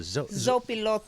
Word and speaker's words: Zopilotes: Hey, this is of Slow Baja, and I am sitting here in, how do you pronounce it? Zopilotes.